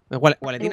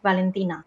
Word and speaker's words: Valentina: ¿Gualetina, Lucas? No, es Valentina. Es como extendiendo la V. En vez de pronunciar la W, tienes que pronunciar dos V seguidas, ¿sabes? En plan, Valentina.